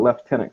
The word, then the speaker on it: lieutenant: it's like when they say lieutenant comes out leftenant quite often it's like yeah what is up